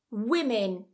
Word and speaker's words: women: The 2 vowels are pronounced exactly the same. Women.